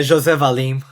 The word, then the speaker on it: José Valim: say it correctly uh for everybody listening yeah Jose valim and uh it's funny you say that because